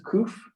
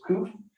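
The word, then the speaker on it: ק: If it's kuf, they'll put with a Q. If it's with kaf, they'll put it with a K. Okay. So you can tell which they're both pronounced the same, but they're spelled differently in the transliterated into English.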